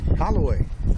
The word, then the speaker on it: Holloway: Holloway. Hey, at least I had the first syllable right.